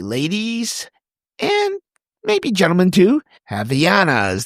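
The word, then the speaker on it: Havaianas: Javiana's, that's what it's pronounced, Javana's flip-flop.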